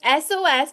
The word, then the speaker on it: Esōes: Yeah, so it's SOS, but it's not spelled SOS. It's spelled ESOES, covert spelling. Esōes Cosmetics.